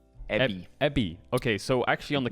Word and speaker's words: Evi: How's it pronounced? So it's Evie, right? That's how you say it. It's Ebby. Evie. B. Ebby.